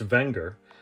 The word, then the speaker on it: Wenger: Technically pronounced Wenger, the company dates back to the late 1800s.